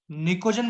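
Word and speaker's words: pnictogen: तो याद रखेंगे, पी साइलेंट है, निकोजन बोलते हैं।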